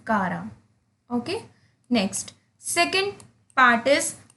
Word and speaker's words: Chara: अब आप इसे some people pronounce it as chara. This is not chara. This is kara.